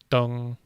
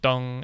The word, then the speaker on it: 凍: do with ice, and the pronunciation, dong, is very similar to the character for east.